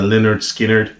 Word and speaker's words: Lynyrd Skynyrd: how they even made people know the pronunciation of the band pronounce Leonard Skinner uh some great uh